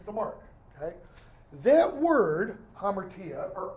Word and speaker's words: hamartia: That word, hamartia, or amartia, because H is not pronounced, when it is used in the Greek New Testament, because it is, it's used all over.